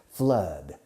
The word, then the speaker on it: flood: Flood. F-L-O-O-D. Flood. Fijaos en la pronunciación. Don't confuse it with food, which is what you eat. Food.